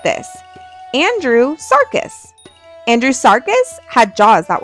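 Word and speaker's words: Andrewsarchus: Andrew Sarcus.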